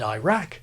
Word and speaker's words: Iraq: Barbados and Adrian or pronounced Iran and Iraq like Irene and irate interesting one on Iran